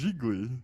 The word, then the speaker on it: Gigli: Pronounced Geely, It's Gigli. Gigli. Geegly. Gigli. How do you say it? Thought it was just Geely.